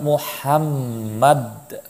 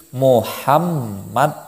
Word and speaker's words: Muhammad: Di situ bukan Sallallahu ala Muhammad. Akan tetapi di situ coba dengarkan Sallallahu ala Muhammad. Jadi Muhammad bukan Muhammad.